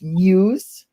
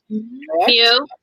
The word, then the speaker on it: Mew: Brendan's favorite Pokemon is Muse. Mew.